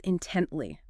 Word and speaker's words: intently: The last one is intently. Intently. Intently. 3 syllables. Stress on the second.